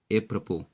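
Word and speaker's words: apropos: अगला वर्ड आपका है एप्रपो। ए प्रपो ए प्रोपो एस जो साइलेंट है लेकिन स्पेलिंग में रहेगा, तो ए प्रपो का मतलब होता है संगत, उपयुक्त।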